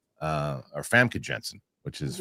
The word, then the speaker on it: Famke Janssen: Next week, I got an interview coming out on Wednesday with Famke Janssen. People, it's funny cuz I didn't up until the interview, I was calling her Famke Janssen or Famke Janssen, which is wrong.